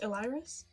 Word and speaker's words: Iliris: So, how's his name pronounced? Iliris?